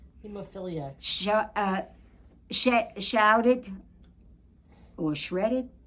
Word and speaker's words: hemophiliacs: It was a year of anti-smoking, anti-abortion, anti-drinking, gays, addicts, heoiliacs. How do you say the word? Hemophiliacs.